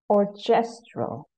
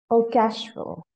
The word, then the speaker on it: orchestral: Incorrect pronunciation, orchestral. Correct pronunciation is orchestral.